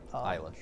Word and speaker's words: Eilish: Billie, like Elish. Eilish. Oh, is that how you pronounce that?